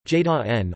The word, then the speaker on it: Jordan: The family name was eventually changed to Jordan, pronounced in the German manner, J-da-N or J-da-N.